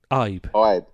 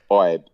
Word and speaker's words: Ibe: I've never ever been able to pronounce that. Ibe. I know it's a bit difficult for you. 3 letters, it's a bit much for you. 3 letters, yeah. Yeah, one syllable.